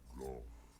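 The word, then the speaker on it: Gough: Now, watch and see how Goth hunts At dragons. least that's how he pronounces it.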